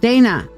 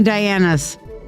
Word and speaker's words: Dana: the god and goddess it's pronounced Dana okay Dana sorry I have too many dianas Dana that I saw it and I wouldn't Diana Diana Diana okay so Dana all